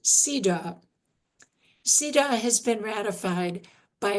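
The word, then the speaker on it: CEDAW: The acronym is comprised of the letters C, E, D, A, W. Convention, elimination, discrimination against women. It's pronounced CIDA.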